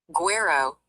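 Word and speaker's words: güero: Gu U E R O Guero, which is pronounced G W E H R O is a common term in Mexican Spanish.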